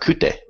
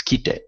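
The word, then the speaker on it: 来て: you can see that it's not kuru, or it's not kite, or it's not, I'm sorry, it's not kute, it's kite.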